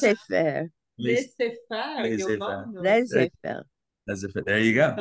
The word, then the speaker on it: laissez-faire: How do you pronounce it? Laissez-faire.